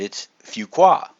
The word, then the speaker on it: Fuqua: I'm like, okay, Jim, how do you pronounce this? And he said it's Fuqua, which sounds, I guess it could sound French, it could sound Asian, I didn't really know.